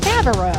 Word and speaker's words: Favreau: Favreau. It's Favreau, like John Favreau.